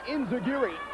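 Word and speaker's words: enzuigiri: trash put his leg but up for long in zagiri by Lance dreamer and a beauty nice to hear a playlist lay guy pronounce enzagiri correctly and no one who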